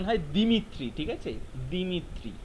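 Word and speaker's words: Дмитрий: ঠিক আছে, দিমিত্রি লেখা থাকে, দিমিত্রি লেখা থাকে, এটার স্পেলিং যাই থাক, যেভাবেই লেখা থাক না কেন, এটার উচ্চারণ প্রোনাউন্সিয়েশন হয় দিমিত্রি।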